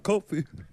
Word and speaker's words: Coffey: My name's Coffey. It's like the drink, but not spelled the same.